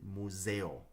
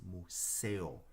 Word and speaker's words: museo: El Museo earlier um when I pronounced it I pronounced it Museo which is Italian in Spanish it is Mussel the S is a softer sound so sorry about that